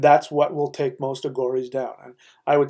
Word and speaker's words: Aghori: Aghora is spelled A-G-H-O-R-I.